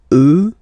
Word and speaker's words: eux: you get the sound remember, final X not pronounced, and then plural elle, elle. Okay, so let's see them one more time. Moi, toi, lui, elle, nous, vous, eux, elle.